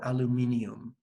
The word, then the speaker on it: aluminium: a question and aluminum.aluminum there are two to two schools of a pronunciation and writing Haven do you say aluminum or aluminium it seems that I